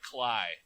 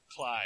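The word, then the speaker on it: Klaj: terrible he put up 28 points and then Clash back was is my stream who who got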